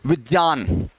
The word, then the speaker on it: विज्ञान: लेकिन जब बात वहां तर्क और विश्लेषण की आएगी तो इसको ज उच्चारण करना चाहिए, ज। विज्ञान, विज्ञान।